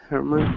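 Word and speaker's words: Germán: Is it Herman? Is that how to say his name? Yes, Herman. Herman. Okay, because I thought it was the G.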